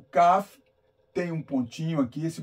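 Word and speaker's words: כ: iremos analisar é o CAF ó o CAF o CAF é um ser o contrário né o CAF tem um som de k e o CAF tem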